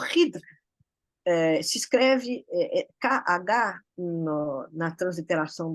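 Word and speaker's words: Khidr: E o Hidr, muitas pessoas falam o Kidr, mas a pronúncia correta é Hidr.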